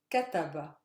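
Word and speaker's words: كتب: one try it yourself cataba so my stress lies on the first syllable again because the last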